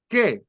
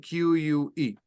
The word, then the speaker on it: que: that is an exception when you see the word what in Spanish is que okay so that's it just know that that is K that you you combine